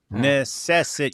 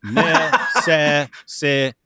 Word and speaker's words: necessitate: Necessitate. Necess you're leaving out a syllable. It's necessitate. Keep in mind, I also have I also have I also have uh issues.